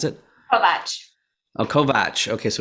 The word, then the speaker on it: Kovacs: i'm joined today with christina is it pronounced kovacs is that how you pronounce it oh kovach okay so it's a true sound okay cool